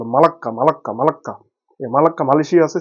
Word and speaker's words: মালাক্কা: মহাসাগরে যোগশক্তি স্থাপন করেছে মালাত প্রণালী উচ্চ মালাক্কা উচ্চারণ করে মালাক্কা মালাক্কা মালাক্কা মালাক্কা Malaysia